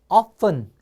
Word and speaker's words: often: F 발음은요. 자, 윈 이빨로 아랫입술을 물어보세요. 그래서 여기서 프 해보세요. 프. 그래서 often. 자, 따라하세요.